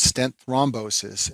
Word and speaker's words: stent thrombosis: second stent complication is called stent thrombosis and this name rhymes with restenosis but it's a completely